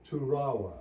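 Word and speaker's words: Toorawa: at Yale University uh his last name is turawa I will spell it for you t o o r a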